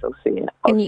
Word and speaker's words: Ausar: That's spelled AUSAR. That's Osir.